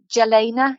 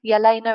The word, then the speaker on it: Jelena: easy to get hold of but um either gelena yelaina it's pronounced but jelena j e l e n a jalena is a lovely one um and then going